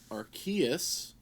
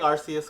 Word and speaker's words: Arceus: No, I'm saying Arceus because that is the proper way to say it.